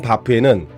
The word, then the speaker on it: HBAF: H는 묵음입니다로 유명한 브랜드명 바프에는 글로벌 종합 식품 기업으로 성장하겠다는 강한 의지가 담겨있다.